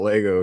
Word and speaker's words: Lego: Just be like, "Hey, just let you know if you don't if you keep saying Legos, you're gonna get a billion people like, "No, it's pronounced Lego."